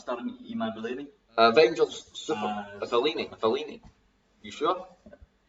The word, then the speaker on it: Iman Vellani: Is it Iman Vellani? That's it. Vellani. Is that even Where is it? starring Iman? Oh, it's starring Iman Vellani.